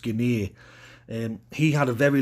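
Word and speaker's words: Gene: the list tonight is Stanley Gino as I've read it's actually pronounced Guinea and he had a very long career which spanned from 1993 to 2010.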